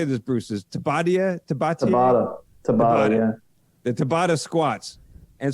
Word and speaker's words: Tabata: Is Tabata, yeah.